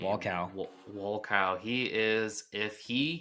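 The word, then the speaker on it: Wolkow: Oh, how do you pronounce his last name? Walcow.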